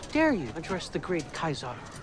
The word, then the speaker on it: Caesar: So, first of all, the original Latin pronunciation is Kaisar, not Caesar or Kaiser.